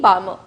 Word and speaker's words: Balmer: Okay, L is silent here, it's given the name Balmer.